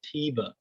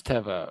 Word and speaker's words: Teva: answering this question hayes doesn't even know how to pronounce teba he calls it teva it is teva ask somebody that works there don't look at me